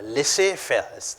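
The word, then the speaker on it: laissez-faire: transformation and the last one is known as lissefer you call this as let's say fellas it's a french term it's pronounced uh let's say fairs that's how it's a french word now let's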